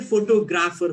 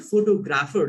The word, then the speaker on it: photographer: People say photographer, photography. It's not photographer, it's photographer.